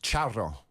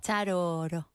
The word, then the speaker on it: Charo: Charro. ¿Charo? Charro. Charoro. Charro. Ro. It's the soft R. Oh, ro. Charo.